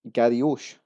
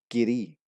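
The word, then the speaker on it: Garioch: And at number 8 we have what looks like Garryosh. It's actually pronounced Giri. Giri.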